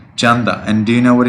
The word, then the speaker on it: Chanda: spell it t-a-n-d-a c-a-d-a Janda and the perfect pronunciation is yes perfect Chanda and do you know